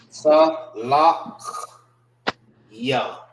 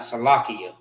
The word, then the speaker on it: Salachya: Salakya. That's how you properly pronounce it. Salakya. Salakya. That's the proper way of pronouncing it. All right. It's Salakya.